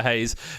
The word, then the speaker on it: Reis: the pom you Franks I think he pronounced hay by the way V Hayes made his senior debut